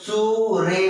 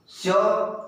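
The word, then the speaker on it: sure: रे नहीं है, श्योर, कोई कोई सूरे बोलते हैं, सूरे नहीं बोलना है, स्यो र लिखते समय लेकिन सूरे लिख दो, कोई बात नहीं है, हाँ, लेकिन बोलते समय स्यो, CSU स्यो र, स्यो।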